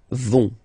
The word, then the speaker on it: vont: vont, elles vont, okay, remember, final T, not pronounced, so you get this O-N nasal here, on, vont, okay, so let's see